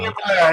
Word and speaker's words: Nehemiah: He most recently was the founder and CEO of Nehemiah. Am I saying it wrong? I'm probably saying it wrong. Nehemiah, you got it.